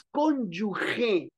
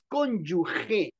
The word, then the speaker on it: cónyuge: es X, es conspiración, es cónyuge, no es G, no es GUE, no, no, no, es cónyuge, G de gato, E, cónyuge.